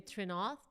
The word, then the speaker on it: Trenouth: Today, I'm so excited that I'm going to have a conversation with the incredible Emily Trenouth.